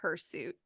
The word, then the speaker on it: hirsute: as bad as like her suit exactly this is just you know what it is it's the stupid English Germanic pronunciation of a Latin word that we have probably butchered probably so yeah if